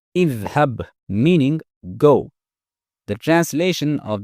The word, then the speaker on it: اذهب: Since it has a fathah on its middle radical, the hamza al-wasl in its imperative form will be pronounced with a kasrah, which is idhab, meaning go.